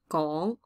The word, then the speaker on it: 講: Okay, or sometimes it's to say, 講, and then 廣東話, mind your pronunciation. This is GW, 講, and then 廣, so you can feel the W.